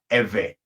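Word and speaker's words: Ivri: In English, you will spell this I-V-R-I, and it's pronounced Ewe.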